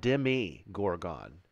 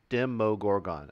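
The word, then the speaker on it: Demogorgon: is down no problem I would call it Demi Gorgon this is demo Gorgon dim Mo Gorgon I always say Demi Gorgon I don't know why Darrow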